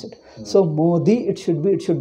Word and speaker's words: Modi: minister is wrongly pronounced they call modi it is not a d it is modi because we write our